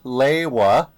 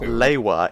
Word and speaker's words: Lewa: Lewa, and Kopak. Everything else is pretty okay, but Pohatu. It's not Lewa, it's Lewa. Pohatu. Yeah, the Pohato. emphasis on the second syllable of Lewa is wild.